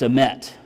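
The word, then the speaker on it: אמת: It's emet. Emet. E-M-E-T if you're wanting to spell that.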